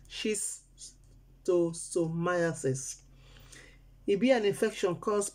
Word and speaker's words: schistosomiasis: and heavy for mouth the name be shisto schistosomiasis then they pronounce them she's too so myosis it be an infection